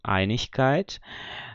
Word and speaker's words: Einigkeit: Às vezes acontece, como esse quarto exemplo aqui, que eu tenho Einigkeit, a mesma coisa. Esse IG está aqui no final da sílaba.